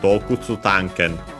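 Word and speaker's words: 洞窟探検: So in that case, the accent then would be on the ta of, so on the first mora of the second word part of the compound. So Dokutsu Tanken.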